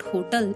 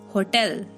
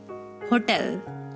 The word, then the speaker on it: hotel: breakfast the next one is hotel it's not hotel it's hotel hotel next word is wednesday it's not wednesday it's